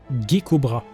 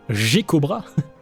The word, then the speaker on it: Geckobra: Le son "ge" en français ça se prononce /ʒ/, pas /ge/.